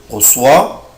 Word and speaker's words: reçois: طبعا العلامة دي بسميها أكسون لا سيدي بحطها تحت السي عشان أنطق حرف السي اس. لو أنا شلتها هنطق إيه؟ je reçois بس الفيرب ما اسموش recevoir، اسمه recevoir. فانا لازم احافظ على نطق حرف السي بالاس.